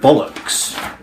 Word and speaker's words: bollocks: and with the word bollocks the earth sound affair again it's bold look Bob looks Bob looks bollocks and not bollocks so that's the one